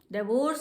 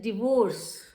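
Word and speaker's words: divorce: डाइवोर्स is wrong pronunciation, it इज डिवोर्स. डिवोर्स. This is correct pronunciation is डिवोर्स.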